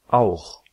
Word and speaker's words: auch: Une prononciation qui vient après A, O, U, AO se prononce R. C'est un bruit de gauche. Par exemple, Ach. Auch. Doch.